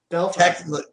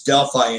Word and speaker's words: Delphi: Carroll County, which is Delphi, Indiana, or if you were to pronounce it correctly, Delphi. That's how far behind we are. We pronounce it Delphi instead of Delphi.